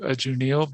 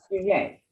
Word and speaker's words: Janelle: My name is pronounced Junie. Yay. Junie.